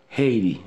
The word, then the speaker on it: Haiti: But, américain la prononce Haiti. Ok, where are you from? I'm from Haiti. Haiti. H la aspire, I'm from Haiti.